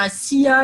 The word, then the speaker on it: ASEA: Donc, ASEA, donc moi je le prononce à la française, hein, on devrait dire ASIA, ils disent comme ça.